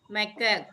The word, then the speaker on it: macaque: This is not monkey, this is क्या pronounce करोगे इसे? Lion tail macaque.